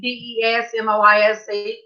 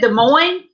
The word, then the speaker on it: Des Moines: I said, "How do you say that state? DESMOISE?" He said, "Hey, Rebecca." "Hey, Rebecca." He didn't say that. He said, "Des Moines."